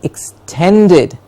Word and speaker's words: extended: expire raishin yes exploration extended not extended but extended ten gets the stress extended of course you